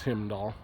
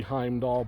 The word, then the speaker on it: Heimdall: His name's Himdall. It's supposed to be Heimdall, but the original owner mispronounced his name, so that's just what he's referred to.